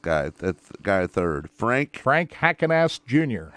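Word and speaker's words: Heckenast: How do you pronounce that last guy? That guy third. Frank Hackenast Jr. Hackenast Jr.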